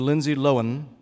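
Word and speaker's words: Lindsay Lohan: I'm going to say her name properly the Lindsay loen vehicle Herby fully loaded yes do we do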